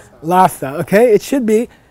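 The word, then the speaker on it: ལྷ་ས: actually reverse them okay for the pronunciation of this particular stack in tibetan you say the H first what what capital city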